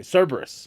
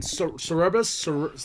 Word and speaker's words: Cerberus: Say Cerberus. Cerberus. Cerberus. Yes. Click. Great group. Okay. Great group. Okay, this is what EJ was part of. And like I was saying Cerebus, like I said it wrong. Cerebus. I said it wrong on the podcast.